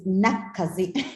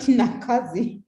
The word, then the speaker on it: Nakkazi: such a pleasure and my name is nakaze not nakazi but it's okay i